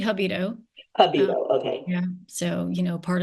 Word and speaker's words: Jabido: Is that Jabido? It's actually Jabido.